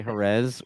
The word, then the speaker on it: Jerez: What a weekend in GP racing and Jerez. Oh my god, Jerez. dude, I cannot bring myself to say Jerez with the th.